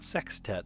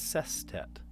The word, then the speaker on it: sestet: It's not sextet, it's sestet.